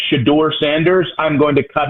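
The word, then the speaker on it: Shedeur: than to hear him say the name of Shador Sanders is the correct pronunciation. Nick, you're mad at him saying Shadur.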